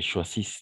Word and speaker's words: choisissent: Et choisissent, n'est-ce pas? Choisissent. Qu'ils choisissent. ENT à la fin, on ne prononce jamais, donc je vais le mettre en rouge.